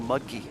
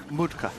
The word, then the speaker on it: Mutke: mentioned the interesting thing most Americans just call Mudkey. That's what I was going to say, Mudkey. I'm glad you started talking first. Mutka. is the correct pronunciation, but he gets called Mudkey so often he doesn't mind.